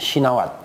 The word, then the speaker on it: Shinawatra: Thaksin Shinawatra, ya kan? Tapi bacanya Thaksin Shinawat. Nah, begitu ya. Bacanya Shinawat. Tra-nya nggak dibaca.